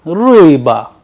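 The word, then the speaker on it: рыба: So, let us pronounce it once again, ui, like in bui, or a Russian word for this, ruiba, ruiba which means fish.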